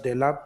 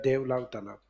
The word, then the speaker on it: देलाब तालाब: एक दूसरा देलाब तालाब या देवलाव तालाब। देलाब भी लिखते हैं डायरेक्ट, ये को साइलेंट करते हैं।